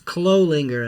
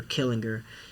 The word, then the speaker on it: Clolinger: I remember I think I was in 2nd grade, Miss Clolinger's class, and it was Clolinger, and I used to call her Killinger, and good, because I couldn't pronounce it at first, and then because I